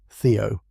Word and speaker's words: Theo: I think about the way he says my name, Theo, with a slight emphasis on the first syllable.